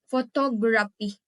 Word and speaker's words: photography: The next is word ending in IC. S I O N or T I O N. Stress is on the second to the last. For example is photography.